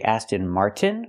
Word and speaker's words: Aston Martin: we have to say Aston Martin with a t or we have another way to do it we can take the T and make it a stop T Mart stop the Air